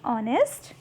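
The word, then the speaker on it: honest: similarly an ऑनेस्ट बॉय यहां पर भी ये जो एच है वो साइलेंट है सो एन ऑनेस्ट बॉय ठीक है तो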